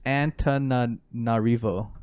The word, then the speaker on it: Antananarivo: Antananarivo or something like that? It's Antananarivo. Antananarivo. Antananarivo. Yeah, I always mix up the middle syllables in that.